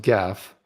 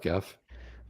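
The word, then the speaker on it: Geoff: chef jeff see it's jeff with the g the pronunciation it was going to be g-e-o-f-f g-e-o-f yeah jeff that's the other way to spell jeff and it's not pronounced gaff although most people would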